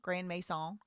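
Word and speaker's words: Grandmaison: I mean, it's spelled M A I S O N, but it's M mess. Grand Mesa.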